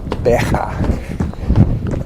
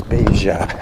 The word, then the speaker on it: Beja: They pronounce the J much softer than the Spaniards. In Spanish it would be Beja, and in Portuguese it's Beja.